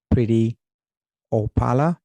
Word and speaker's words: Preity Upala: on the show pretty again that was uh pretty opala yes and did I pronounce correct you you did pretty paa and